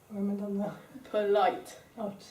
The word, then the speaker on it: polite: it's two syllables and the stress from polite is on what's syllable second one this one polite if you say really slowly it's polite polite so when the stress is on the light so polite it's the second syllable Esther can you please